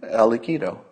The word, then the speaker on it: al-Aqidi: Now, when I pronounce it, you say, well, that's a nice last name, al-Aqidi. I like that. Sounds good. Here's the problem. When you see it written, it looks like al-Qaeda.